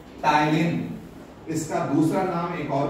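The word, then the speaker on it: ptyalin: क्या नाम है, मत पढ़ो उसको, क्या है, पी साइलेंट है, टाइलिन।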